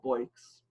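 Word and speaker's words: Boix: with the name francisco bikes actually i don't know if i'm pronouncing his last name correctly it's spelled to be all IX it's pronounced either boy or boys but francisco bikes so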